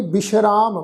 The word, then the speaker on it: विश्राम: फिर है जी विश्राम बब्बे नूं सिहारी सस्से दे पैर विच तुसीं देखो अद्धा रारा लगा हुआ है। इत्थे साध संगत इस शब्द का पाठ जिहड़ा सस्से दे पैर विच बिंदी लगा के पाठ उच्चारण करना वा जी विश्राम।